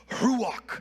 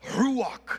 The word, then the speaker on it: ruach: E no seu som, ruach, é como um sopro, a própria palavra sendo pronunciada, ruach, é como um sopro, um vento, essa é a palavra para vento ou espírito, fôlego.